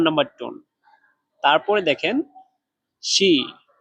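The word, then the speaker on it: 湿: তারপরে দেখেন শি। শি, এখানে চাইনিজের 1 নাম্বার টোন ব্যবহার করা হয়েছে। তাহলে এটা ডাইরেক্ট উচ্চারণ করতে হবে একদম সোজাভাবে, শি, শি।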